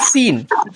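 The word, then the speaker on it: سين: এক আলিফ লম্বা হবে তারপরে আসতেছে সিন সিন এটা কমপক্ষে তিন আলিফ লম্বা হবে বা চার আলিফ লম্বা কট পর্যন্ত করা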